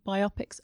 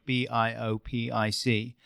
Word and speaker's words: biopic: pronunciation of the word b i o p i c now in my mind it's pronounced biopic because it's a biographical picture but I know a